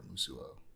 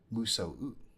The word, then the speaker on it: musou: probably be like a Musuo. Or I forgot. I always have a hard time pronouncing this. Musou is how it's pronounced. I always mix up the O and the U.